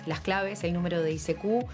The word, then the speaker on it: ICQ: ICQ no es una sigla, en realidad es un juego de palabras en inglés, porque ICQ se pronuncia ICQ, algo así como yo te busco.